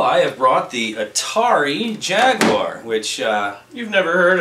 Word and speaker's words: Jaguar: show and tell I have brought the Atari Jaguar which uh you've never heard of probably not isn't that pronounced Jaguar it's Jaguar don't be a I thought I